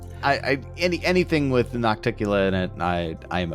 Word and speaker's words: Nocticula: every time it gets brought up somebody says nocticula somebody usually Spencer replies with noctula which is how we pronounced it was we thought it was pronounced